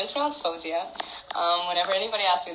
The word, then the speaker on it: Faouzia: but the thing is my parents like moroccans arabs will call me fouseya or fawziya and so that's how it's pronounced at like home but i kind of like constructed this like way to say my name ever since i was younger and so my name is pronounced fawzia and that's how i would prefer it to be pronounced because i said we